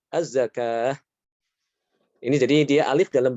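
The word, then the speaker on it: الزكاة: Az-zakah bukan az-zakawat. Ya. Ini jadi wawu tertulis berbeda dengan pengucapannya ya. Wawu tapi dia diucapkannya apa? Alif ya. Tidak dibaca az-zakawat tapi az-zakah.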